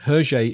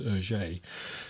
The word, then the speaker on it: Hergé: Hergé is the French pronunciation of his initials. And the initials are reversed, by the way. It's, instead of being GR, it's RG, and that in French is Hergé.